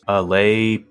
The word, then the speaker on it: Allais: how I pronounced this oh nice it's pronounced Al Paradox oh so the S isn't even pronounced well according chat GTP